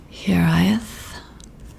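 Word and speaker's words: hiraeth: little pronunciation guide underneath h e a r Das E Y dash T okay like I said this is Welsh here I is here I is here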